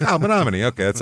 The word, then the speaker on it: Menomonie: And the Wisconsin people are incredibly impressed that we pronounce Monomin correctly.